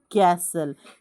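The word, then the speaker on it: castle: अभी देखो यहां पे सी ए एस टी एल ई कैसल तो यहां पे एस साइलेंट है वो छोड़ दो इसका प्रोनंसिएशन क्या करेंगे हम कैसल क्योंकि सी के बाद क्या आ रहा है ए आ रहा है कैसल दूसरा शब्द है सी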